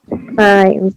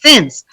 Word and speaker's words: since: Science, yes. No, it's not two syllables, not science, it's since, one syllable.